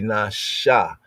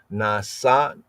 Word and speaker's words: נשא: So instead of a S or na, it'll be Nasha. Nasa, right? No, it's nasha.